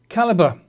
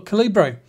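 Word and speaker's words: Calibre: application here is called caliber or calibra whichever way you want to pronounce it and the last time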